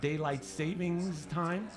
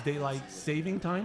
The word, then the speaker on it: daylight saving time: that it's not daylight savings time? It's daylight saving time. I've always said it wrong.